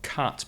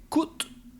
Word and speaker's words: cut: material just one one point with the pronunciation of cut because it's often mispronounced by spanish speakers who say kut it's not cut it's cut you have to open abrilla open the mouth the same sound as up cut cut the meat